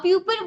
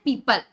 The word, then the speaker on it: people: जैसे कि आपको पता होगा PEOPLE एक वर्ड है जिसे हम प्यूपल बोलते हैं, है ना, जिसे आप मोस्टली आप सब लोग प्यूपल बोलते हो, ठीक है। यदि मैं इंग्लिश ग्रामर के हिसाब से प्योर प्रोनाउंसिएशन करूं इस वर्ड का तो ये PEOPLE जो ये वर्ड है इसे हम बोलते हैं पीपल, ठीक है, प्रोनाउंसिएशन हम यदि करते हैं।